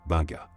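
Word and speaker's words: Beqa: Ce rituel, appelé localement Vilavilervo, est exécuté par certains groupes indigènes, en particulier ceux des îles Beka, prononcés Benga.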